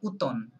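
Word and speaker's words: automne: right yes ওটাকে বলে উতন বলেন উতন এটা আবার ভুল করবেন না এমটা silent okay that is no pronunciation of ফর M letter M okay so উতন okay let's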